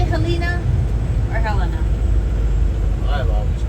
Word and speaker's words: Helena: blower I don't know so helina is the state capital you would think you would be but nope Helena is and I believe that's what